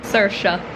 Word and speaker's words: Saoirse: Saoirse. That is the pronunciation of the main character's name. Saoirse.